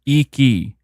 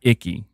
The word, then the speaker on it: Iki: I is pronounced E, like E-E. So it's Iki, not Icky.